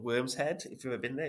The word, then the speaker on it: Worm's Head: mad name for it but the worm was the Norse word for Dragon and they spell it with a Y but it's just now to so we call it w RMS head but really for them it was worm and the Vikings believe